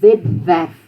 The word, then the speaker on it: webwerf: W is pronounced V. Except if it comes after an S or a T, something like that, then it would be tw or sw. But if it's the beginning of the word or the beginning of the syllable, it's a V.